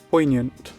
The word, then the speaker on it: poignant: Oh, poignant. Poant. I don't pronounce the G.